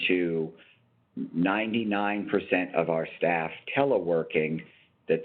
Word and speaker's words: teleworking: 99% of our staff teleworking, that the accent in that word is on the last syllable, work.